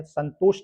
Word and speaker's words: संतोष: सबसे पहले इस संतोष शब्द को हम पढ़ते हैं, तो इसमें जो अनुस्वार लगा हुआ है इसका उच्चारण करते हैं, संतोष निकलता है, संतोष। यहाँ अनुस्वार का उच्चारण जो है ना के रूप में हो रहा है, जबकि पा ये पंप